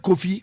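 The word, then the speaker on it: Kofi: I believe I'm pronouncing right. When you say lawyer, it didn't be and the word coffee, K-O-F-I, no.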